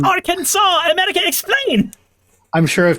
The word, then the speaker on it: Arkansas: I'm sure I've told you this before, but I think I was in my 20s when I learned that our Kansas and Arkansas were the same state cuz like I'd always read one and heard the other, so I I assumed that they were different cuz the S doesn't make that sound.